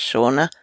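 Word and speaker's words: Seana: tip this week is from shaa Turner I think it's pronounced well I'm guessing it's pronounced shaa It's s e a n a and her Twitter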